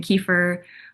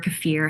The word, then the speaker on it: kefir: But when we're talking about low sugar fermented foods, that is um, plain, unfortunately, plain yogurt, plain kefir or kefir, however you want to pronounce it.